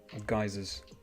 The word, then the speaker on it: geyser: but of Earth instead um geysers pronounce it Giza right the um water hydrothermal exploding